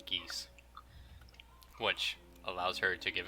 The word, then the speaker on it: Geas: It's called Geese, spelled Geas.